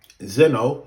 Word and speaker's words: Zeno: Zeno is how you pronounce his name, but continue.